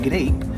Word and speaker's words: Greip: don't speak English and you're Spanish and you pronounce it grape, it sounds like you're saying grape with your Spanish accent.